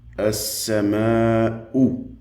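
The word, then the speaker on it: السماء: Dans ce cas-là, nous avons ici une Dhamma, nous le verrons plus tard, Inch'Allah, qui se prononce OU. As-sama'u, qui signifie le ciel.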